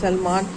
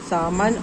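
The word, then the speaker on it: salmon: अब देखिए इस स्पेलिंग में एल एस ए एल एम ए एन सलमान सलमान नहीं पढ़ना है और सी ए एल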